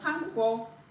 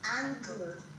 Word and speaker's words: Hangul: Hangul, not hangul. Hangul. Yes. Angle. Han, not an.